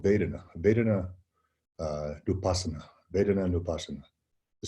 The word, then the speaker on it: Vedana: And it's spelled like V-E-D-A-N-A, Vedana. Or in Sanskrit, you don't pronounce the V in the front, so it's like wa, like Vedana.